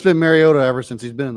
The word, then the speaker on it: Mariota: I just figure out it that is how Marcus pronounces. Mariota. Mariota. Mariota.